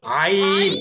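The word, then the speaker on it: ع: আইন আইন আইন আইন সুন্দর করে উচ্চারণ করতে হবে। আইন হলকের মাঝখান থেকে। আইন বা।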